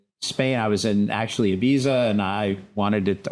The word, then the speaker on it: Ibiza: I was in actually Ibiza, and I wanted it, or Ibiza as they pronounce it.